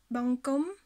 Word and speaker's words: បង្គំ: Ici, le pied de consonne qu'on a, c'est celui de ko. Et ko, c'est une consonne forte. Donc ko va garder sa série et ne prendra pas celle de bo. Donc ce mot se prononcera bangkom, bangkom.